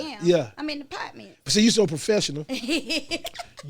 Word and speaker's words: Partments: I'm in the Partments.